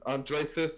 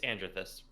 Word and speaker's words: Andrethyst: And then of course I got And Andreist is please tell me I'm pronouncing your name right. You're not. It's Andrethus.